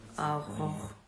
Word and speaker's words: Aurora: Oh, I mean, Aurora.